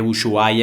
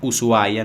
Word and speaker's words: Ushuaia: zona entonces me equivoqué dije muy guay en vez de ushuaia aunque se escribe ushuaia se pronuncia ushuaia no en argentina y bueno